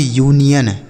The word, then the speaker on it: union: UNION इसे पढ़ेंगे यूनियन, क्या पढ़ा जाएगा, यूनियन, समझ आया, यूनियन।